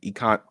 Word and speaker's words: Encanto: Some songs from Moana, Frozen, and Encanto.